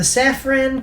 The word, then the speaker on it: Safran: So, the production companies behind The Suicide Squad 2021 are DC Films, which is owned by WB, Atlas Entertainment, the Safran Company, or Safran, it's spelt with S-A-F-R-A-N, so it's Safran or Safran